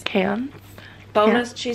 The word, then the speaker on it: Cairns: It's cans. Cans. Bonus, yeah. She said, bonus points if you pronounce it right. It's cans.